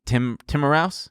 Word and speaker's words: Timiraos: Nick Timiraos? You got it. It looks Greek. You know. Take it easy. Timiraos. Take it easy. Is it like Timiraos? I'm going to give you a careful. Okay, Timiraos.